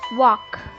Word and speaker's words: walk: Walk, alignment, honest, not, knowledge, thought, Calm. The silent letter in walk is L.